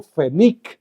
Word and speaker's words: Fenik: En lugar del mago Fenic, que así es, Fénix. mago Fenic.